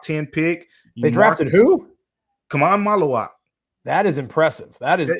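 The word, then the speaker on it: Khaman Maluach: Kamai Maluak. That is impressive. That is excellent pronunciation.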